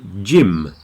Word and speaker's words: Jim: end of words so Jim Jim make sure you pronounce the M Jim like an m not an N otherwise you say Jin